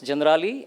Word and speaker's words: Generali: it's Italian company so they pronounce it General but it's generali and U it talks